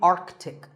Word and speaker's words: Arctic: Pole of the earth it's mispronounced by many as Arctic but it's actually Arctic the sea in the middle is not silent similarly antartic IC and